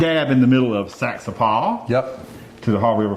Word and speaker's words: Saxapahaw: to the smack dab in the middle of Saxapahaw. Yep. To the Haw River Farmhouse Ales and say hello to Ben and Dwan. Saxapahaw. No, it's Saxapahaw.